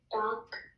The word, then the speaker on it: doctor: Put the accent on the first syllable for me. Okay. Okay. So I want to hear you say it. Put it with Go higher, louder on that first syllable.